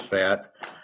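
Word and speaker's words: Pfaadt: how to pronounce it I think it's fat why doesn't he just say f a t why does he add these other letters so San Diego wakes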